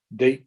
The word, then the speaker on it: Date: It looks like date to me. It's Date. Yeah, right the first time.